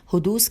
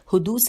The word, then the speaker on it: حدوث: حدوث کی ہجے کر دیتے ہیں ہے دال واو اور سے کے نیچے زیر ہے حدوث ذاتی اور زمانی کی نفی کرنا.